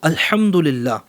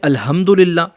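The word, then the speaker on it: الحمد لله: جیسے میں آپ کو ایک مثال دوں، الحمدللہ، یہاں پر ہا ہے، کچھ لوگ پڑھتے ہیں الحمدللہ، یہاں معنی چینج ہوتا ہے.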